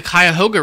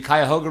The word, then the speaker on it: Cuyahoga: in the water will burn it was the Cuyahoga River oh there we go yeah okay of